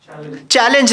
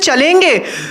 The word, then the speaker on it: challenge: How will you pronounce that? Challenge, right? Yeah, you only. Challenge, right? And he used to pronounce it as chalenge. Chalenge, accepted.